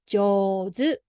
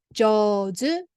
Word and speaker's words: 上手: 上手. はい. Then this よ is smaller than じ. So then pronunciation to put together 上 sound because we pronounce together 上手.